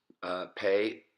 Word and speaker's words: pei: When the dagesh or the dot is there, it's pei with the P sound, p.